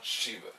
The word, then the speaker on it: Shiva: I pronounced Sheva. Shiva.